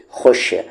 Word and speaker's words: خوش: خو کو شام خوش، یاد رکھیں کہ خوش کی سپیلنگ خا واو شین ہوتی ہے، اور یہاں پر خوش میں ہمیشہ یہ جو واو ہوتا ہے سائلنٹ ہوتا ہے، لکھنے میں نہیں، پڑھنے میں، ٹھیک ہے۔ لکھیں گے تو واو